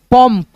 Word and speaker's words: पंप: ठीक है, अब दोस्तों इस बिंदी का उच्चारण म कब होगा, जैसे मान लो यहाँ पे हमने लिखा प, फिर अंग की मात्रा प, अब उच्चारण करके देखो म के रूप में आएगा पंप, पंप।